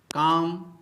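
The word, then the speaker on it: calm: दोस्तों आज मैं आपके लिए डिफिकल्ट वर्ड्स में साइलेंट लेटर एल लेकर आया हूं। तो दोस्तों सबसे पहले साइलेंट लेटर एल से बने शब्दों का प्रोनाउंसिएशन करेंगे और अंत में इसके स्पेलिंग पर बात करेंगे। तो दोस्तों चलिए शुरू करते हैं।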